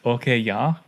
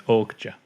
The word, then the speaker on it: Okja: I think last week I said Okja. Yeah. Because I googled it and it was sounds like that's what she says. No, it's Okja.